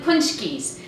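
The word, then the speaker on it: pączki: Today we are doing paczkis, and it's spelled P-A-C-Z-K-I, which is a weird spelling for the way it's pronounced. It's Polish, and you have it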